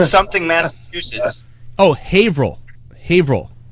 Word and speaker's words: Haverhill: vrel Haverhill like okay it's actually if you type in its Haverhill but we pronounced a table I'm yelling that among you Haverhill hav they say hey bro its Haverhill type in Haverhill and anyway what the